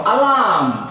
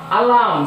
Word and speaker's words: alarm: And now alarm, alarm. See here in the case of alarm, A itself is a separate syllable. So the second syllable starts from the alarm. Alarm. So stress is on L.